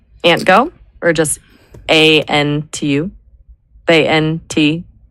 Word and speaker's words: ANTU: ANTU, 2 syllables. It's cute. It's worker focused. Does onto feel? How do you spell it? Yeah, ANTU. It sounds a bit like ant, but it's its own thing.